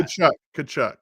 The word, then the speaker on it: Tkachuk: Tkachuk is how you say it.